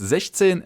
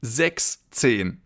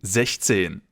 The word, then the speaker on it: sechzehn: As you know, six in German means sechs, so the number should usually be sechszehn, but because that's difficult to pronounce, it has been modified to sechzehn. So, 16 means sechzehn in German.